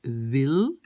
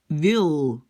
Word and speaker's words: wil: Donc le W est beaucoup plus comme un V. Alors, j'ai écrit en Flandre, on va dire wil. Donc déjà, le W, c'est V, hein, avec les lèvres, wil. Et le L est un peu plat. C'est-à-dire, donc, aux Pays-Bas, le L, je l'ai mis en double. Pourquoi? Parce que c'est beaucoup plus comme en anglais.